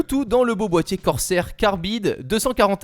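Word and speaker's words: Corsair: dans le beau boîtier corser carbide 200 40 r je crois que ça se prononce ainsi on voit aussi du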